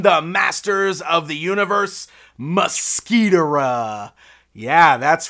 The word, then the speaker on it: Mo-Squit'ra: In the show, I definitely think it was Mosquitor'ra is the way it was being pronounced.